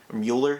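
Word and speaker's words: Müller: for the most part moeller getting mueller is how you say that is getting spider-man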